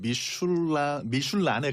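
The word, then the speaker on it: Michelin: 이게 이제 영어로는 미셸린. 네, 영어로는 불어 발음으로 미슐린이고 미슐랭. 불어로 하면은 미슐란에 갈 거예요. 미슐란. 근데 우리나라에서는 미쉐린은 타이어, 그다음에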